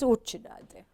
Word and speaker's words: cucciddati: Cucciddati, I got to correct you. Cucciddati. In Sicilian dialect, it's cucciddati.